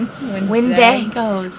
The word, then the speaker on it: Wendigo: Wendigos. Wendigo in the asylum. It's like Diego, but...